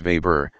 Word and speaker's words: Weber: Let's allow him to rest as we catch up with the life of Joseph Weber, whose name Murray would always pronounce Weber, the German way.